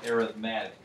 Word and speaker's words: arithmetic: Now, this word is kind of funny because it's spelled the same as arithmetic, okay? And when we're talking about the study of arithmetic as a noun, we pronounce it that way, but when we use it as an adjective like this, we usually pronounce it arithmetic, okay?